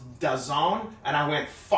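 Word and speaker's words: DAZN: you know why I didn't put the the dazzlin or whatever because I was just about to do it and then when it said when I looked it up it said that it's pronounced dezong and I went yeah I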